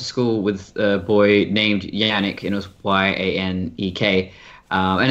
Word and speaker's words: Yannick: Yeah, I was never confused about it because I went to school with a boy named Yannick, and it was Y-A-N-E-K. And that's how it's pronounced. You never say Janik.